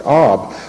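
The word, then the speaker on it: אב: For instance, in the Old Testament, the word Av means father or daddy. It's sometimes believed it might have been pronounced Ab. However, in modern Hebrew, it's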